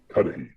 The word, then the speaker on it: Cuddihy: And um how do you pronounce the the second one? The the deep level thinker? Cuddihy.